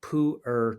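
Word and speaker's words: Pu'er: or here's one of my favorites is called poer T I don't know if you ever heard of have you ever had poer T it's spelled it's spelled P apostrophe e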